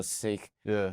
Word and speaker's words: Sikh: idea yeah so I I pronounce it sick but there there's a lot of history that U that I'm learning now were like British in the 1700s were calling them siks oh okay so I'm